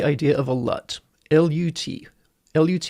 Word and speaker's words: LUT: LUT is short for lookup table, and it's just pronounced LUT.